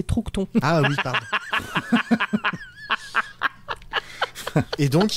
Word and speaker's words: Troughton: Excuse-moi, je te coupe parce que t'as mal prononcé, c'est Troughton.